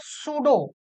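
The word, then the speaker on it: pseudo: नाम को पढ़ते हो क्या लिखा है सूडो लेकिन दिख क्या रहा है सुडो कडो पी पी साइलेंट है यहां पे और यहीं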